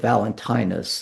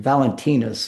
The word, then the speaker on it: Valentinus: And this was the case of a man by the name of Valentinus. Um the that's the English pronunciation. Valentinis is more the Latin pronunciation, but everybody knows St.